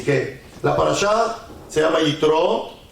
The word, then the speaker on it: Yitró: Entonces en español le pusieron Jetro, pero su nombre verdadero es Yitro, con acento en la última O, no Yitro, sino Yitro.